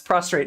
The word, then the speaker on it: prostrate: what he hears is prostrate yourself. Did I say it right? Prostrate? Yes, prostrate, not Oh my god, I can't keep these two words straight.